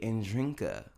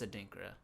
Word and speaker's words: Adinkra: adinkra African dance theater I always want to say and drinka a lot of people do it's because how it's spelled adinkra it's adinkra adinkra dance company African dance